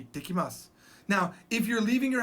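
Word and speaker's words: 行ってきます: You say, "Ittekimasu." I'll be back. Ittekimasu. There's a double T.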